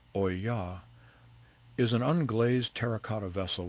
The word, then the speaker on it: olla: An olla, pronounced oy-yah, is an unglazed terracotta vessel with a narrow neck and a rounded body.